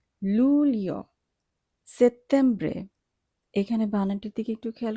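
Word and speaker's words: settembre: সেপ্টেম্বরে, এখানে বানানটির দিকে একটু খেয়াল করে, এখানে ডবল টি আছে। টি এর উচ্চারণ ইটালিয়ান ভাষায় ত এর মতো হবে, কাজে আমরা এখানে ট উচ্চারণ করব না, আমরা ত উচ্চারণ করব সেপ্টেম্বরে।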